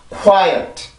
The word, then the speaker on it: quiet: 실질적인 음절이 시작이 K 발음이 아니기 때문에 K 발음이 소리가 강하게 나오면 안 되고, 연국에만 맞고 공기만 나와주면 되죠. 그죠? 자, 다시 해볼게요. 그러면, quiet, quiet, quiet.